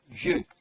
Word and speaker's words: vieux: We have vieux.